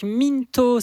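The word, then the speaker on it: Mynthos: Voilà, donc Mintos, ça s'écrit à peu près comme ça se prononce, M-Y-N-T-H-O-S. M-Y-N-T-H-O-S. Et félicitations pour ton Mintos.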